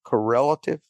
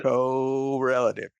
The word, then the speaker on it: correlative: Co, how do I pronounce that? Co- Is that right? Correlative. Correlative. That's how I'd say it. Okay. Correlative. Correlative. Slow it down a little bit, Drew. co- relative.